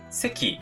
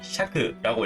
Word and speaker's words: 石: 이 돌석자는 음독으로는 세키, 샤크라고 읽히는데 보통은 세키로 읽습니다. 일반적으로는 거의 99% 세키로 읽는다고 생각을 하시면 돼요.